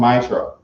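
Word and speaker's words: מעשר: Means 10 in the Hebrew and pronounced Maishra.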